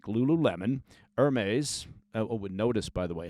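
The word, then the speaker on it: Hermès: from brands like Lululemon, Hermes. Notice, by the way, how I pronounced Hermes and not Hermes.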